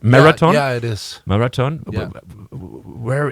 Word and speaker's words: Maratone: part of the interview with marathon is it pronounced right Marathon yeah it is marathon where is this name